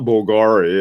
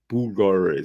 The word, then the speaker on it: Bulgari: It's not Bulgari. It's Bulgari. Something like that.